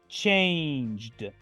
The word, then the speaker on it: changed: en pasado simple es changed changed solo pronuncio la letra d al final la e es casi muda escuchen de nuevo changed